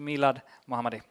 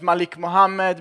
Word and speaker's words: Milad Muhammadi: the stage completely to Milad muhammadi there we go people in Sweden have a difficulty in pronouncing my name I've been presented as Malik Muhammad mil but one time I